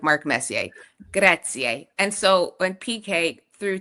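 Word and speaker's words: grazie: I'm thinking just make sure you say Gracier like Messier and is instead of saying I kept saying Graatzia and they were like no that's like a a name. You're saying it wrong. You're trying but you're saying it real wrong. And then but if you say Gratzi they'll literally just like spit in your food and be like okay get out of here.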